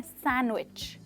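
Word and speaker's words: sandwich: Well यहाँ पर भी दोस्तों डी लेटर साइलेंट है, जस्ट लाइक वेडनेसडे, और हम इसे कहते हैं सैंडविच।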